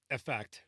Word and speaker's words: Eaffect: i just said it's i pronounce it as effect with the e and the a is silent okay i think that's